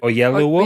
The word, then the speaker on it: Oyelowo: David, I always get his surname wrong. David Oyelowo.